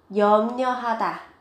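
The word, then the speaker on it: 염려하다: Yomnyohata, yomnyohata. Các bạn chú ý về cái phát âm, viết ở đây là ryo nhưng mà khi phát âm thì các bạn đọc là nyo.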